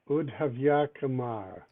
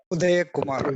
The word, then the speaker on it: Udaya Kumar: And I regret that I'm totally lost on how to pronounce Udhavyakumar. Udhavyakumar? Am I saying that badly? Udaya Kumar, yeah.